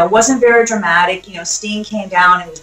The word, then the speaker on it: Sting: You got to say like Tony Schiavone, "It's Sting." It's Sting.